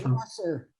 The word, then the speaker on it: Prosser: Did I pronounce that right? And if I did not do it, I apologize. It's But Prosser.